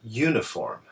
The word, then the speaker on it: uniform: uniform and university however these words actually begin with the u sound which is actually a Y sound so that's why we